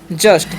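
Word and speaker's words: just: Word क्या है समझिएगा जे यू एस टी थी जूस नहीं इसे हम हम लोग पढ़ते हैं जस्ट।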